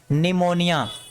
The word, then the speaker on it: pneumonia: पीड़ितों से लैंड होगा पीवर को नहीं बोलेंगे इसको सीधा किया पढेंगे निमोनियां क्या करेंगे इसको निमोनियां